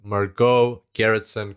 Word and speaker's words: Margot Gerritsen: and today we've got a very special guest marco garretson calling in from california how are you going